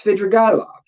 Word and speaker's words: Svidrigailov: Did you or whoever did it spell it wrong? I did it. It's Svidrigailov, a character.